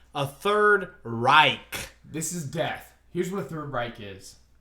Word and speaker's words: Reich: Bro, Now, so- but so- for those so- who don't know what a third right is, it's pronounced third 3RD Reich RIKE. yes. So it's not third right.